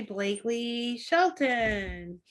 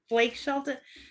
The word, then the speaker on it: Blake Shelton: This would be Blakely Shelton. Who? Blake Shelton. Some country singer. Maybe I said his name wrong. You said Blakely. I said Blake.